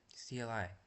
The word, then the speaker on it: CLI: This type of program has a command line interface or CLI. Command line interface. Command line interface which is pronounced like the first part of climb and rhymes with sky. CLI.